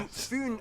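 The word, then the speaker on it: Fyn: much information it is connected to foon island not finn island by the great belt bridge completed in 1998.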